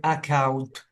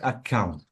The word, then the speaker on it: account: uh okay too much say account don't stress the uh k sound because you have to say account not account so there is no stress on K on the Double C which is K be careful of the